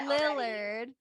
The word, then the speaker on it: Lillard: If Matthew Willard, wow, can't even say his name. I know what you're gonna say, and I love it. Lillard.